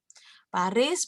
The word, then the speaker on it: Paris: Paris bacanya biasanya Pari, kembali di tenan.